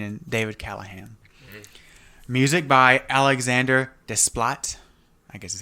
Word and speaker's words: Alexandre Desplat: Music by Alexandre Desplat.